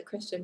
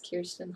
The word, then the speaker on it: Kirsten: Make sure, I know there's always that confusion of the Kristen versus Kirsten. You have to, it takes a little closer look, so it's Kirsten Hall.